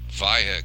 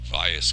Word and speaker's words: Valles: news we're back at via caldera I said vias caldera the last time in the S is silent the Spanish pronunciation as opposed to Mars